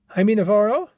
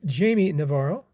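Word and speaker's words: Jaime Navarro: Haimey Navaro or Jamie Navaro. I heard it's pronounced both ways.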